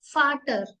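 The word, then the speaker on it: Vater: like फ जैसे की अब वी है ब की साउंड कैसे आएगी फोगल फटर फ साउंड आ रही है नॉट व फटर फगल फ sound mean फगल mean bird and फटर मीस फादर य भी याद रखने की बात है कि वी की साउंड व नहीं फ आती है ठीक है नेक्स्ट है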